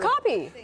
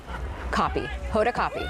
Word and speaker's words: Hoda Kotb: Hoda Kotb.